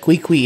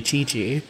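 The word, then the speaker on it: Qiqi: screws me up that quickly is actually chi-chi that one's ooh double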